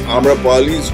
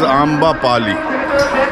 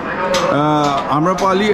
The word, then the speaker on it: Amrapali: Actually, it is Amra Bajalpura Wali, mispronounced as Amba Pali.